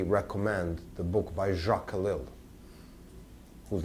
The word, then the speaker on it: Ellul: Jacques Ellul, E-L-L-U-L-E-S. It's French name. Ellul is the way you pronounce it.